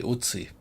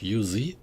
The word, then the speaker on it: Uzi: In German, we say otsie, which is the abbreviation for that. uh submachine gun which was standard issue in the German army or how would you pronounce it in English? Yuzi.